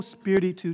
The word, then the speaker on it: spiritu: So accent on the spear, on the first syllable, spiritu tuo.